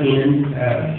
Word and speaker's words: Amend: in advance um anyway my name is and pronounced enan you know he been